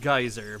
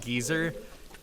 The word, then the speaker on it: geyser: I know it's pronounced geyser, but in Xenoblade Chronicles, they pronounce it geezer.